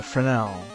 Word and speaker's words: Fresnel: Uh no, S is silent. It's French. Uh, Frenel.